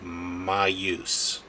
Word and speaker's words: Maius: how to pronounce it it's called m-a-i-u-s and I it's pronounced my use my use or something my use it it makes sense